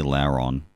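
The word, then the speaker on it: Lairon: agron what is that later on uh i say lauren yeah like later on it's supposed to be a derivative of layer though yeah supposed to uh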